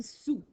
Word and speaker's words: sous: Quand tu écris sous, si tu l'écris par syllabe, est-ce que ça va bien aller? Oui, tu vas écrire sous, S-O-U, mais qu'est-ce qui se passe? Il y a une lettre qu'on n'entend pas.